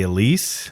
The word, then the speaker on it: Elise: is it am i saying it right the elise the elise yep they still make that one they still